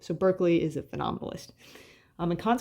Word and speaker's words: Berkeley: We just pronounce his name funny in the United States, but it's Berkeley.